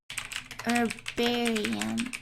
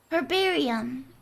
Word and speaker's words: herbarium: Bararium pronunciation. Is that right? Herbarium. Her. Ah, there is the H. I thought you didn't say the H. Heck. Herbarium. Herbarium.